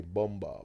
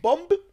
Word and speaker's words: Bumbu: That's because that's why it says Bumbu, because that's how they would say bomba, but it's Bumbu.